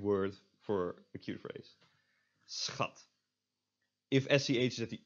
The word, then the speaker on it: schat: SCH, when not at the end of a word, or end of a syllable, I should say, is pronounced as just an S and a ch. So sch. So this word, schat, and this means like darling or honey.